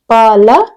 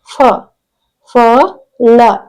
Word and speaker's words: ಫಲ: ಮಹಾಪ್ರಾಣ ಅಕ್ಷರ ನೆಕ್ಸ್ಟ್ ನೋಡಿ ಇಲ್ಲಿ ಬಂದು ಫಲ ಫಲ ಪಲ ಫ ಲ ಫಲ ಓಕೆ ಇದು ಮಹಾಪ್ರಾಣಾಕ್ಷರ ನೆಕ್ಸ್ಟ್ ಜ ಳ ಜಳ